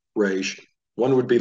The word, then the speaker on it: resh: And I have a note down here that if you're going to pronounce it from the back of the throat, it's the same location that you would pronounce the letter G.